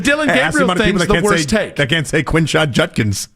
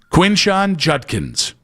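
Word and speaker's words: Quinshon Judkins: The Brad Pitt thing's clearly a bit the Deande thing that's he just butchered a name which we've all done. The Dylan worsh Judkins. Quinn Sean Judkins.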